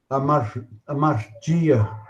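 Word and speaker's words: ἁμαρτία: Aqui eu vou usar o reverendo Carlos para falar as pronúncias corretas dessas palavras gregas aí. Pode falar a primeira, reverendo? Olha, amartia.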